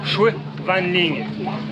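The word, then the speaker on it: Chùa Vạn Linh: Oh, que ça a l'air chouette, On vient de franchir à l'instant les portes d'entrée de la pagode Van Linh, qui se prononce donc Chue Van Linh.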